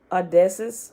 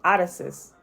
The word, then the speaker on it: Odysseus: revamp of caesar or odessa's hold on that is not how you say that name uh this is how you say that name i know how to say it odysseus okay was jesus a